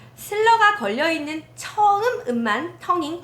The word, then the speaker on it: slur: 이음줄 가로 쳐 놓고 어떻게 적혀 있냐면 slur 슬러라고 읽어요 그래서 이음질의 영어 이름은 슬러 붙임줄의 영어 이름은 넥타이